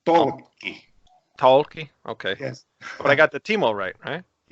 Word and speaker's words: Tolkki: Almost. It's Tolkki.